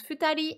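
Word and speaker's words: 二人: un compteur hyper important on a le chiffre 2 suivi du candi de la personne ça se prononce futali et ça veut dire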